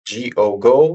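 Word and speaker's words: Tiago: So first, I would like just to showcase that my name is Jee-oh-go. So a bit different because it is a Brazilian name, but that is how it is pronounced, and Stefan did great.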